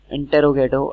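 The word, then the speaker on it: interrogative: Next one, इंटेरोगेटिव and somehow people pronounce it इंट्रोगेटिव, both thing are correct.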